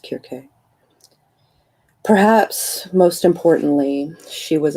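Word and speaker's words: Circe: niece of the sorceress serkey or cersei i don't know or kirke i think it's supposed to is supposed to be pronounced kirke perhaps most importantly she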